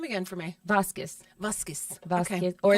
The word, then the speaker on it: Vasquez: Or it's really nice to be like Vas with a B on it. Vasquez. Vasquez. Q-U-E-Z is almost like a kiss sound. Like a Vasquez. K sound almost.